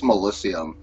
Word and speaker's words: Mellisium: It's Mellisium.